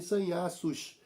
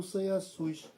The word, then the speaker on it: sanhaços: o Chico devia fal, eu achava que o correto seria o Chico cantar, pronunciar sanhar sus, mas aqui na página 325, o Bruno também fala em sanhaços e não sanhaçus. Então, com essas duas autoridades, eh, falando sanhaços e não sanhaçus, eu vou ter, eh, nos meus 64 anos de idade de mudar a pronúncia.